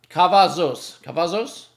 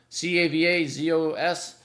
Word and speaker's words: Cavazos: Cavazos, I think you pronounce it. Cavazos.